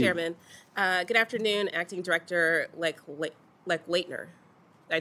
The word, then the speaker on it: Lechleitner: Good afternoon, Acting Director Lechleitner. Did I say it right? Lechleitner? That's close. Lechleitner.